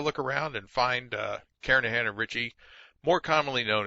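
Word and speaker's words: Kernighan: will be using the kernigan and Richie or Karan I should say the g is silent karahan and Richie C programming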